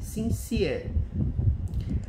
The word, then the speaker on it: sincere: Essa aqui eu tenho certeza que é pronunciada assim, sincere.